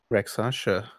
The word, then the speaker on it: rakshasa: like tiger dudes yeah with backwards hands oh wreck sasha okay uh when that happens um we're in